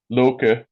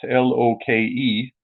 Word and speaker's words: Loke: that's like the nordic loke but um because it's spelt l-o-k-e in english it would be confusing it'd be loc because in scan in scandinavian you pronounce the e yeah because you have